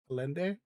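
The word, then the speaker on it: Allende: During a Marxist government of elected highly controversial president Salvador Alendi Alendi Alende Machuka Machuka. Okay. Yeah. Yeah, I see that. It is It is said like it's like it's spelled.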